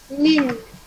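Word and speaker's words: ligne: If there is GN inside a word, we pronounce it as IN. In. Okay. GN is pronounced as in. Lin. Very good. Lin. Lin means line.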